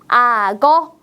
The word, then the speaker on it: 악어: 한국어로 어떻게 읽 요 글자 그대로 읽으면 악어라고 읽습니다 어 선생님도 방금 읽었는데 너무 발음이 어려운 것 같지 않나요 자 우리 편하게 앞에 있는 받침을 뒤에 이응 자리로 옮겨서 읽어 보겠습니다 어떻게 읽을까요 맞습니다 아거라고 읽을 수 있겠네요 같이 한번 읽어 볼까요